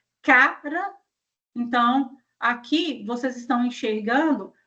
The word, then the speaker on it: cara: Então cara é uma coisa, cará que é uma raiz é outra. Então agora já mudou a forma de pronunciar, mudou também a sílaba tônica e mudou a palavra.